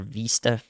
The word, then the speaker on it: Vista: Osceola here Roscoe and Vista or Vista the Missouri pronunciation there good time to